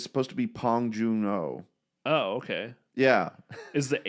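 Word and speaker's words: 봉준호: name wrong is it apparently the B is pronounced like a p really yeah it's Paul it's supposed to be pong Juno oh okay yeah is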